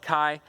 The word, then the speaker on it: Ki: I pronounce it Ki. You can pronounce it Kai. However wish you pronounce it, that's fine by me.